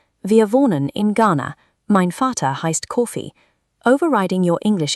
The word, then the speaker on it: Vater: Then we have the letter V. In many German words, it shifts to an English F sound. For example, the word for father is spoken as Vater.